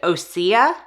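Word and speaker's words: Osea: is from the brand osia I think that's how you pronounce it or OC o-s-e-a and this is the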